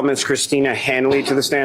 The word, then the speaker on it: Hanley: last name for the jury sure it's Christina Hanley Hanley is spelled h n l y and uh what